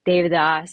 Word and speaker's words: Devadoss: Um and so David is the pronunciation but it is spelled like Devidos or Devidas.